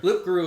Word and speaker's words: loup-garou: Loup-Garou is the French version. Rougarou is the southern version here in America.